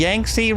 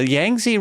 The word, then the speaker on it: Yangtze: the yangi river yangi the yangi river I listened to several pronunciations that's as close as I can get um it is the